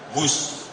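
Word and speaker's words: Whoosh: operasi optimal sistem hebat sekali lagi w h o o s h tapi membacanya wus kereta cepat Jakarta Bandung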